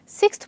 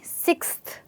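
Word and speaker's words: sixth: आई मतलब आई गट सिक्सथ position in the class इसको आप सिकस नहीं सिक्सथ बोलेंगे ऑलराइट चलिए इसके साथ आगे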